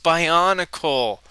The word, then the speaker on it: Bionicle: guys it's guys guys it's pronounced by on a call the vorc are vogue